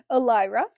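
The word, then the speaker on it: Elira: Al Elra. It's E L I R A. So, however you pronounce it.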